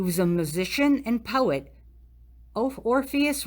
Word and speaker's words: Orpheus: a musician and poet orpheus rhymes with glorious one of the argonauts